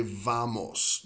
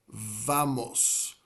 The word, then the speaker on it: vamos: involved, like let's say vamos, ¿dónde vamos a ir? Where are we going to go? Some Spanish speakers will pronounce it almost like a B, like a B.